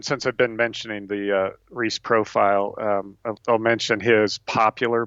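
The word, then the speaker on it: Reiss: But Reese is spelled R-E-I-S-S, and his popular style book is called Who Am I?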